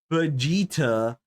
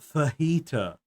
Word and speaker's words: Vegeta: But I'm saying Vegeta, not Fajita.